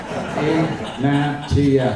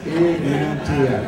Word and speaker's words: Ignatieff: My name is Ignatiaf. I spend most of the summer trying to get giving people help pronouncing my name. We do little classes in public. Ignatf. It's not so hard. Ignatf.